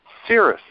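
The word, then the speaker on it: Ceres: of the write up on Wikipedia it says Cirrus you know c s pronounced s er- EZ yes another confirmation because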